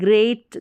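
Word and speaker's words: great: भी लिख सकते हैं, याद रख सकते हैं, ग्रेट करके पढ़ा जाएगा। ग्रेट यानी ई ए का उच्चारण लॉन्ग ए के रूप में।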